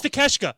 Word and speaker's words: Takeshita: It's Takeshita. Okay, that's what it was. It's Takeshita. I remember it, but it's spelled. I can't even I can't mess with you guys. Take a shita is what it spells out.